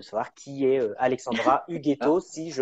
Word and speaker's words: Ughetto: Donc, de savoir qui est Alexandra Oh, Huguetto, si je prononce bien le nom.